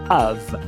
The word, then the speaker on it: of: Aí, quando a gente tem a letra F, são poucas palavras que a gente vai pronunciar V, mas uma delas é a preposição D. Of.